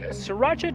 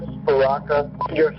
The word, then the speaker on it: Sriracha: to know that your Sriracha Powers you omit the r you just say three very distinct syllables there's a little break in between each one not three lashes but